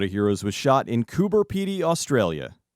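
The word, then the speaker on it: Coober Pedy: Heroes was shot in kuber py Australia I double checked with an actual Australian so if you complain that I'm saying it wrong you're wrong anyway kuber py is known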